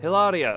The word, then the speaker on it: Hilaria: a mage are you I wonder what Hilaria Hilaria okay that is how you she pronounced it I'm sorry I was I like